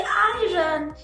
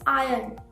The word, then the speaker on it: iron: तो होता है IRON, तो हम क्या देते आयरन, बट वो आयरन नहीं है, इट्स आयरन।